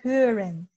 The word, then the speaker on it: hören: What about hören? Hören means to listen or to hear. Ich höre. So we have to be careful with pronouncing the umlaut.